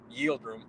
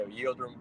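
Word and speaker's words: Yıldırım: Yeah, it's like Yildirim. It's similar to Pilgrim. Yeah, Yildirim, Pilgrim. Yeah, something like that. Yeah. Yeah, his name definitely rhymes with Pilgrim, though. Yeah. Yeah, Abdi Yildirim, that's his name, but yeah, it does sound like Pilgrim.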